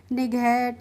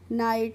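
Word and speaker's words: night: ऐसे आई जी एस टी कहीं पे भी दिखेगी तो आप उसका प्रोनाउंसिएशन इट करके, निगहट, सिगैट इस तरीके से नहीं करेंगे। नाइट, site, हाइट, ब्राइट, टाइट इस तरीके से करेंगे।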